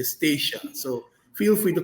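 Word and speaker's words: Statia: to pronounce sometimes but feel free to call us stacia that's what we call it in the name uh in the in the voice of the locals uh we say stacia so feel free to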